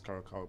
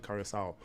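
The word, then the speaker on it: Curaçao: Oh, a lot of people pronounce this as Karako, but it's actually Karasau.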